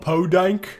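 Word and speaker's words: Pudank: called Podank. It's spelled P.U. Dank. Lots of dank. Emphasis on the word dank.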